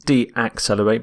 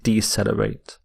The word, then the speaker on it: decelerate: of accelerate is decelerate decelerate not de-accelerate but decelerate and here are some